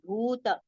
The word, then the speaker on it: भूत: Now see bhu, this particular letter in entire Bhagavad Gita, wherever this word comes, bhuta, everywhere bhu we have to recite with long pronunciation. Okay, it is with long u vowel sound. So it has to be prolonged.